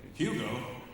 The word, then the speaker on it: Hugo: With a silent H. But we've been saying Hugh. I don't know if you know how the silent H's work there, Hugo. Right? Silent H would just make you Hugo.